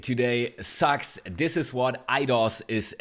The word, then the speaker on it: idOS: You could also pronounce it IDOS, which makes a lot of sense. But I'm just gonna go with idOS here, like the iPad or the iPhone.